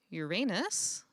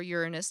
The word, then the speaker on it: Uranus: Our next planet is Uranus, or Uranus, depending on how you prefer to pronounce it.